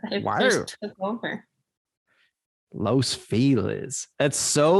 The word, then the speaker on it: Los Feliz: Everyone here says Los Feliz instead of Los Feliz. I would look at that and say Los Feliz, but isn't that? But they pronounce it here Los Feliz. Yeah, if you say it the other way, you're not from here. It's Los Feliz. It's Los Feliz. Yeah. Yeah, but the proper pronunciation is Los Feliz if you were in Spanish.